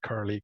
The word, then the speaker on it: curl: pronounce curl it's an it's actually an english word and you call it curl curly curl so of course it